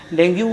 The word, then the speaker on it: dengue: डेंगू मुख्यतः basically क्या है, जैसे इसका प्रोनाउंसिएशन बेसिकली डेंगी होता है, हम लोग डेंगू बोलते हैं इसको।